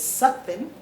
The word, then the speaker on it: Sutphin: i need to acknowledge that i have been mispronouncing your last name it is sucking yes ma'am i got it right yes ma'am